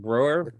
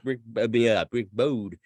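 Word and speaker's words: Browde: Okay, so we got Look What the Cat Dragged In, 1986, produced by Rick, if I'm saying the right name, Broer. Bode. Okay, so Bode. Rick Bode.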